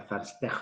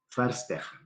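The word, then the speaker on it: Verstehen: 2 en este caso la ve corta se pronuncia como f la h como j faster esa es la palabra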